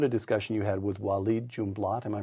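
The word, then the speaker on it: Walid Jumblatt: book you recount a discussion you had with wed jumat am I pronouncing that correctly you are Yes W junblat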